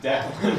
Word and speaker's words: Declan: Oh, You mispronounced it again. It's Declan.